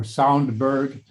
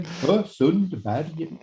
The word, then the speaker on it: Sundberg: Is it Sundberg or is it Sundberg? Or Soundberg. Yeah, you could also Sundberg, we say in Sweden, Sundberg, with jot in the end, but it's free.